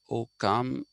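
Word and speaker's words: Ockham: you that uh uh the OC spelling is actually a later invention uh okam they had to invent this because in Italy I it will become oam cc is cha so for that it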